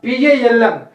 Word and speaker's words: palm: to the second one p a l m is a l is the silent so when you call that word in a accent that should be pronounced as a palm because of the phonetic